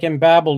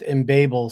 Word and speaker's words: Embabel: It looked like embabel to me, but if you look on the web page, they do claim that it's pronounced embable somewhere in here.